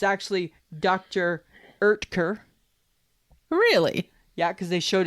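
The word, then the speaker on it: Oetker: the time oh what are they so Dr Oaker it's actually Dr erker really yeah because they showed it in the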